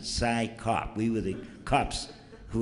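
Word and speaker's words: CSICOP: And we tried to pronounce it like Siskip, or, you know, but it was our enemies who were very nice, and they told us how to pronounce it, PSYCOP.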